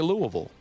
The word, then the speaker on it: Louisville: They say Louisville. So that's what we got to say.